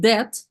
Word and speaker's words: debt: Here, ladies, you need to be a little bit careful because the word debt has a silent letter. Екатерина, what's silent here? B. B, we don't say it, yes?